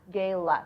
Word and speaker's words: Gayla: And sorry, you said your name isn't Gail. It's pronounced Gail. Gayla. Gayla. Thank you for that.